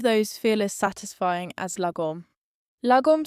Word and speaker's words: Lagom: Swedish, Lagom, pronounced Lagom.